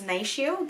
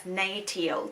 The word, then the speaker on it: NATIO: So I always pronounce it as NATIO, but it's actually pronounced as NATIO.